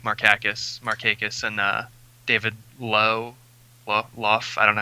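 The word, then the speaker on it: Lough: I like Markakis, and David Lowe. I don't know how you pronounce that. It's Lowe. He used to be a Royal. Lowe. Yeah, it's just Lowe.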